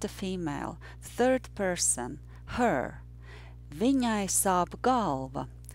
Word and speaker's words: Viņai sāp galva: But the sentence that we are practicing today is Viņai sāp galva. That sentence is about a female, third person, her. Viņai sāp galva. And remember that the rhythm was yes, no, no, yes, no.